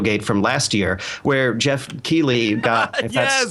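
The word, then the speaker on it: Geoff Keighley: off of dorito gate from last year where jeff keeley got that's how you pronounce his name got absolutely shat on for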